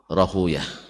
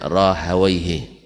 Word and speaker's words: Rahawaih: dimaksud adalah Ishaq ibn Rahuyah. Ya, orang hadis membacanya Rahuyah, orang nahu membacanya Rahawaihi. Ya, Rahawai. Nah, antum pilih, silakan pilih baca Rahuyah atau Rahawai.